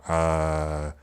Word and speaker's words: ㅓ: how you write it all has the sound of when you're trying to answer a question and go uh that sound is how to pronounce it just adjust the length into one syllable and there we go